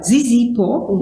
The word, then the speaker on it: Zizipho: and she is I must say it right, Zizipho. Yes. Do I see that po, right? Yes. Zizipho. And it's Zikamdali. Yes. They chose all the Z's and the Q's and the stuff here. And Zizipho, I've just asked if she was the baby